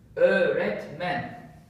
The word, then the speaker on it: öğretmen: And the pronunciation is öğretmen. Öğretmen. So it's like double vowel instead of one vowel.